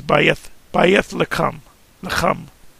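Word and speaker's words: בית לחם: They'll say Bethlehem is Bayat Lacham.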